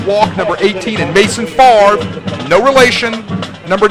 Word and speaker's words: Favre: No relation to Brett, and as people will tell you here in Mississippi, the name Favre in Mississippi pronounced the same, even spelled differently, as much like Boudreaux in South Louisiana.